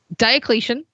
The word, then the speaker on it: Diocletian: bit later but yeah so diocletian is the correct way to say that name cool well we didn't